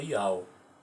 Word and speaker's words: Iau: na sua forma grega Iau. Yahu em grego você fala Iau, e aramaico também, tá certo?